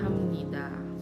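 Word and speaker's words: 합니다: Hamnida ya, hamnida, melakukan, mengerjakan gitu. Hamnida. Dia bertemu dengan Nian itu dia dibacanya M ya teman-teman.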